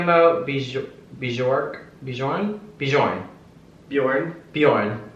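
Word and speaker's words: Björn: Bor beour Bourn Bjorn Bjorn the J is silent in Scandinavian oh Goa gotta gotcha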